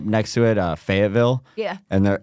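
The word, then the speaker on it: Fayetteville: me they like say faval fa fa you almost pronounce it like there's a D in it like f like we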